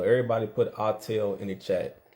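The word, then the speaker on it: Autel: It's called a artel. Everybody put artelail in the chat. It's spelled A U T E L.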